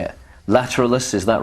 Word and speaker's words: Lateralus: this new LP how do you say it lateralis is that right lateralis laterales right okay so that's how it's pronounced that's the video I looked up to